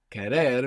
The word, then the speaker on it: querer: Under the stress when we say querer, we have the accent on the end, we have the accent on the ending. Then when we take off that and we put o, we would have quiero, but when we stress down that E, it splits and it becomes quiero.